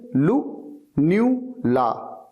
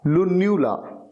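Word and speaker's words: lunula: एन यू एल ए और इसकी pronunciation आप याद कर लीजिए लु न्यू ला लुनला अच्छा घुटने के नीचे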